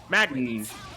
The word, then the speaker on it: Magnus: Is it Magus or Magnus? I said it right. I doubted myself. Magnus. Magnus.